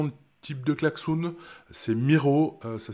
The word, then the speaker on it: Miro: un peu dans le type de cllaxoun c'est Miro ça s'écrit m i r O c'est un tableau